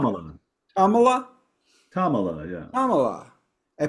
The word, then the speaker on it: Tamala: Is how you pronounce Tamala.